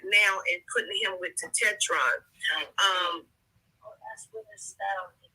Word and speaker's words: Tetetron: Tetetron is how you would pronounce it.